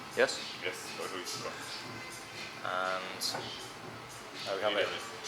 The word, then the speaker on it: Ožujsko: And this is the most popular beer in Bosnia and Herzegovina, but it's actually Croatian, so it would be pronounced Ožujsko, yes? Yes, Ožujsko.